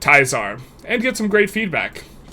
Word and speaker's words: Caesar: top secret game, Project Caesar, aka Project Teaser, but for those of you who know how to pronounce words, it's Project Tizar, and get some great feedback.